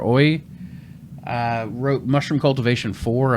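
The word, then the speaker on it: Oei: mess up his name it's spelled o e i peter oy uh wrote mushroom cultivation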